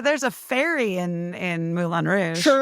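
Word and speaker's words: Moulin Rouge: Mulan Rouge.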